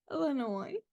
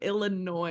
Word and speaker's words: Illinois: you pronounce it Illinois Illinois okay I feel like I got to practice now no you you got it girl Illinois like anoy like think like Illinois is like an annoying ass state